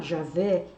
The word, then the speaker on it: Javé: A reverência dos hebreus para com o nome de Deus, na verdade, é um tetragrama, né, sagrado composto pelas letras YHWH, e que nós pronunciamos, por exemplo, Jeová, Javé.